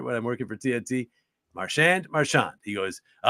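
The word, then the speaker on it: Marchand: I'm working for TNT marand marshand he goes oh I've been asked that a thousand times it's marshand and he said it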